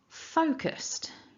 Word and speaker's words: focused: nice st ending st so with the st you'll notice that it's a ending and not a d we'll talk about that